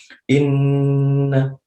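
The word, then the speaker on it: إنّ: disempurnakan karena sendiri jadi Bacanya adalah Inna In Hai nah berapa ketukan Ustad ketukannya sekitar dua sampai tiga ketukan 2-3 ketukan itu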